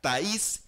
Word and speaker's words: Thaís: jugadora de Universidad Católica, Thaís, con acento en la I, como lo estábamos hablando antes de entrar a la sala de conferencia.